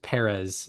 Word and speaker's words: Perez: And out of 89 qualified pitchers this month, uh I believe it's Perez. The accent is on the first.